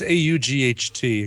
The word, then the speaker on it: aught: And it's AUGHT according to the Wiktionary.